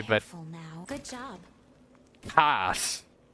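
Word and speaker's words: kaas: Or did I pronounce the S too much? Somewhere. What do you think is in It's more like cats.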